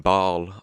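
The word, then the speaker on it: Bâle: to be going from here in Bal I think that's how you pronounce it in the French way uh up north to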